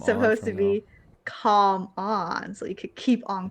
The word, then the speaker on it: Calm On: you can't hear the L, or you're not really supposed to say Koala. You know, like it's supposed to be Silent, calm on.